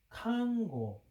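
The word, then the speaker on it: 漢語: 써가지고 한위, 한어야 한어인데 일본 발음으로는 칸고, 칸고. 우리 발음으로는 한어. 자, 일본 사람들은 히읗 발음을 못 하나 봐. 그래서 이제 칸으로 바뀌었는데 원래 한자가 맞아.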